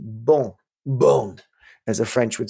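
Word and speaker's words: Beaune: Where's bone?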